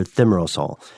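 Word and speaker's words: thimerosal: let's talk about something called theom meral or thimerosol uh as it's spelled differently in the UK and us it's an antifungal preservative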